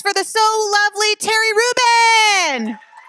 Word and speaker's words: Rubin: Uh Terry Rubin, his last name uh sounds like the Reuben sandwich.